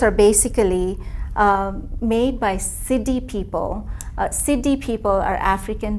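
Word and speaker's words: Siddi: basically uh made by siddhi people siddhi people are african diaspora of india how do you spell that it's s-i-d-d-i okay because i was hearing city okay yeah okay city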